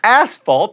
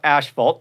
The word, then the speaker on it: asphalt: the way and athlete asphalt not Asheville Ptolemy's and Bacchus off-topic